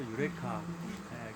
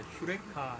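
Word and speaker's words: εὕρηκα: 유레카. 그게 원래는 유레카라고 발음할 게 아니라 휴레카 이렇게 발견했다 이런 뜻입니다.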